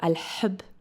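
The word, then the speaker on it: الحب: So it's al-hanin or al-hub. I love that. So it comes from a a little further back. Yeah a different place in the mouth and so both of those words al-hanin pretty sure that's nostalgia.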